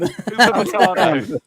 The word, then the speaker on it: Upamecano: Upamecano.